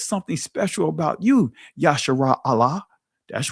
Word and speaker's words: Allah: off and end with a L you that tells you that it should be a at the end of that and in many cases a at the end of that and so it'll be pronounced Allah.